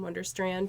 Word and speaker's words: Wunderstrand: Okay, but yeah, I actually just pronounce it Alex in Wunderstrand, so very American.